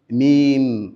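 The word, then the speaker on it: ميم: Mim elle est prononcée ainsi mim.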